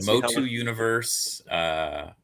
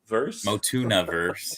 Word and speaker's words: MOTU-niverse: We have Motu Universe, Motunaverse, you know, like it's a tuna fish sandwich.